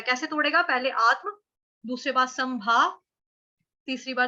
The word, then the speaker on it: आत्म: आत्म, आत्म, ठीक, ये सबके लिए कॉमन वर्ड है, आत्म, आत्मा सबको आता है। आत्म, अघात है, अघात क्यों है, क्योंकि आधा त है और म है।